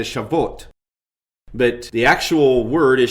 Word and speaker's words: Shavuot: And I might note that I'm going to periodically slow down the way these words are pronounced. You probably would not pronounce the word that defined, that you would say Shavuot.